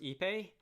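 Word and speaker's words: Ipê: looks quite nice um i take it to be pronounced ipe uh it is my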